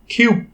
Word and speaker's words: cube: নিয়ম অনুযায়ী যদি কোনো ওয়ার্ডের মধ্যে ইউ থাকে এবং ইউ এর পরে একটি কনসোনেন্ট এবং তারপরে একটি ই থাকে, তাহলে সেই ইউ এর উচ্চারণ হবে ইউ এর মতো।